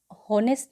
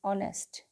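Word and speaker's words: honest: एन होनेस्ट नहीं बोलते हम, हमारी प्रोनाउंसिएशन क्या होगी इसकी, ऑनेस्ट, ठीक है।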